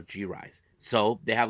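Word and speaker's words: G-RIZE: brand new faction called gise so uh hopefully I can pronounce it right here is G Dash r i z e so gise so they have like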